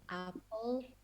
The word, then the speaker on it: apple: The E is silent. You don't read the sound of the E at the end.